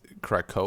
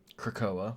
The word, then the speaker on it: Krakoa: I don't know how to pronounce it. Is Krakoa? Sure. Krakoa, yeah.